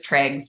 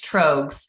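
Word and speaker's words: Tröegs: by beer nerds but I thought it was Triggs but it's trogs uh Hayes charmer which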